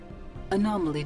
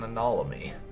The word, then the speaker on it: anomaly: oh we found an anolomy if you don't get them the joke there I had a streaming series I did way way back where I was always mispronouncing anomaly as analomy so that's sort of